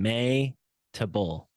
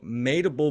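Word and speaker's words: Mehitabel: that one for me table like may like the name May tabul Barnum madeable Barnum madeable okay so made a bull Barnum who is formerly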